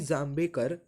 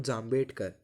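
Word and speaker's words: जांभेकर: तो बाल Shastri जाम्बेकर, आई am sorry, he इज़ नॉट जाम्बेडकर, I was pronouncing it wrong.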